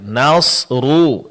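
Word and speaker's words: نصر: Jadi di sini perlu diperhatikan nasrullah di sini sempurnakan pengucapan baris domah pada huruf huruf ro ya dengan memonyongkan kedua bibil seperti yang terakhir. Nasru nasrullahi rullahi ya. Di saat kita mengucapkan nasru, kedua bibir dimonyongkan.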